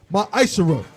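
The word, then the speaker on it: מעשר: Salaka you can find this in numbers 18 and 21 in Malachi 3:es 8-10 means 10th in Hebrew and is pronounced myisher 10% of every penny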